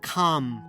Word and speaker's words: calm: I want to talk about the L sound, which disappears before M, D, or K. So even if you see it written, incluso si lo veis escrito, you don't pronounce it. For instance, en el vídeo dije Bellingham stayed calm. We say calm, not calm, calm.